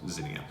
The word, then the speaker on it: Xenia: Okay, it's an X, not a Z, but phonetically it is Xenia.